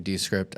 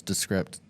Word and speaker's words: Descript: the nice thing is I'm also using descript as or descript I always say it wrong everybody else says descript but I use that